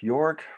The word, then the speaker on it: Joerg: Hello, my name is Joerg, the J is pronounced like a Y, and I'm a professor of theology at Vanderbilt University.